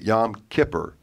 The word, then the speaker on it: Yom Kippur: Some people pronounce it Yom Kippur.